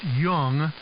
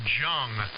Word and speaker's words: Jung: the name of walter it's either pronounced young which is the german pronunciation or jung in the english pronunciation j-u-n-g a very well-known